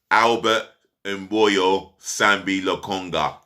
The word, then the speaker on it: Albert Sambi Lokonga: Albert Mboyo Sambi Lokonga. That's how he wants us to pronounce his name.